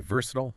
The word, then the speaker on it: versatile: In American English, you'll usually hear VR citile stress on the first syllable. Yeah, RC tile. Got it. But in British English, it's often versisiitile. Stress shifts to the second syllable.